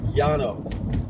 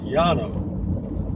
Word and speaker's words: Llano: it Atlanta River it's l-l-a-n-o in Spanish you would normally when it's two L's together like that you pronounce that y like Yano and that would be the Spanish pronunciation Yano but the Gringos screwed